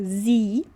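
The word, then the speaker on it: sie: O s sozinho aqui com som de z, com som de z e o i com som de i longo. Então fica zi.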